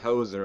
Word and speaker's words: hoser: They're saying it's pronounced hoser, of course.